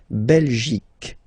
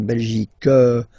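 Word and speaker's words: Belgique: okay La belic okay remember here you will get only the sound C okay belic belic so it's not belg not at all okay because it's only the belic okay Denmark so same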